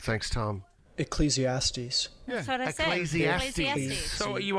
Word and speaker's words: Ecclesiastes: you just didn't listen I've never heard of ecclesiastics no I've never heard of is that an